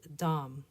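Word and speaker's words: דם: This is an example of the word for blood and it's pronounced dam.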